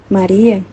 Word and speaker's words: Maria: Maria, pronunciado com acento latino, Maria, significa mares, porque foi o oceano das graças e dons da divindade.